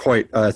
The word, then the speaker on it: Choyt: Well, Marc Choyt, thank you for joining us on the show.